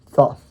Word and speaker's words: Thoth: It was later restored by Thoth, or Thoth. You have to look up that pronunciation because I've heard it different ways.